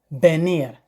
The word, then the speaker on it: venir: Venir, you spelled venir, but in pronunciation it is venir.